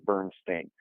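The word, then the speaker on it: Berenstain: Because the difference between steen and stain is like, it seems small, but it's actually big.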